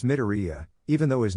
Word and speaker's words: Midoriya: Hey, that new kid that was there with us, his name was Miradilla, right? Sakura just shakes her head. Sakura, you said it wrong, idiot, it's Midoriya, even though his name is Izuku.